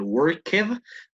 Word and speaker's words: worked: Solo la única correccióncita, la pronunciación, no del worked, pronunciémosle worked. El ed normalmente es así, but other than that, that's pretty good. O sea, la ed entera suena como si solo fuera una T, si se quiere, ¿no?